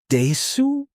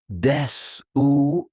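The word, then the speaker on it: です: Su, desu, not desu, just des.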